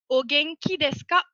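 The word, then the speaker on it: お元気ですか: Et ça se prononcera Ogenki desu ka?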